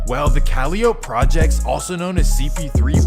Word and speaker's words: Calliope: And again, it's supposed to be pronounced Calliope, but this is New Orleans. Well, the Calliope Projects, also known as CP3, was always known as a wild, wild place.